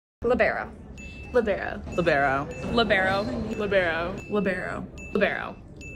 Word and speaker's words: libero: Libero. Libero. Libero. Libero. Libero. Libero. Libero. Libero. Libero. That's the proper way to say it in Europe. That's where it came from.